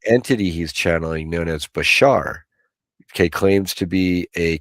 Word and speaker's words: Bashar: Yeah, Bashar.